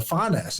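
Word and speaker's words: Phanes: the way back to phy or Fess as it's pronounced so you've got this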